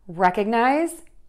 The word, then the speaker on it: recognize: stress, you know that as words get longer and have more syllables, we have to shorten some of the vowels, even though it's exactly the same vowel, because we only have a certain amount of time to say that word.